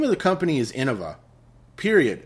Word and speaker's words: Innova: all these people call it Innova, that's the name. You don't get to just say it's something else. It's freaking Innova, okay? The company's called Innova. Period. End rant. Drive me crazy with this mispronunciation.